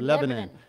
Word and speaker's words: Lebanon: Lebanon. That's how they pronounce it in Tennessee. Lebanon.